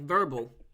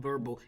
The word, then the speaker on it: Vurbl: Like verbal. Yeah. But it's spelled VURBL. They just made it up.